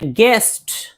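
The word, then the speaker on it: guess: जैसे गेस्ट गेस्ट देखिए जी के बाद यू है तो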